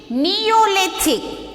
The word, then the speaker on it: Neolithic: So this spelling, how you pronouncing this? Mesolithic. Okay. And next spelling is there. N-E-O-L-I-T-H-I-C. Neolithic.